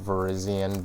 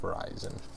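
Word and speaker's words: Virizion: I am aware, I believe it's pronounced Verizian, but you can't see that and not just think Verizon.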